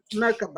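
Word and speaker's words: Merkaba: Merkava.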